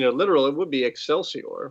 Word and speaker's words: excelsior: but we're not in a medieval church are we are we although look i usually would even do a a very classical roman pronunciation of this would have been with a hard c as a k ex calcior oh boy so it